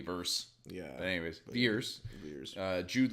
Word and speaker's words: Vers: were introduced to veers it's veers right that's how they were pronouncing it which pissed me off because later should be technically verse yeah anyways years years